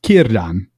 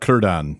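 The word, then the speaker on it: Círdan: not right it's not kurdan it's not kurdan or kurdan right the a is again is another one of those ones it's kiran kan and also it's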